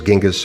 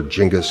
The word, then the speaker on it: Genghis: prodigious conqueror would attain the honorific title Chinggis Khan, nowadays pronounced in the West either as Genghis or Genghis Khan.